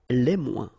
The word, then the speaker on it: moins: Okay, so le moins, remember when we combine this O-I-N together, we get the sound ouin, ouin, ouin, okay, and we don't pronounce this final S. Le moins, la moins, les moins.